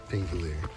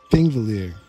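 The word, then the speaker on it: Þingvellir: Thingvellir. I can't say it right, but I'll try. It's like a, almost like a tree or TH, but not entirely.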